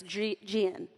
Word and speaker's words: Jen: In Kentucky, Jen has 2 syllables, and it's spelled G-I-N. Yeah, it's not Jennifer, it's Gian with Gian. 2 syllables.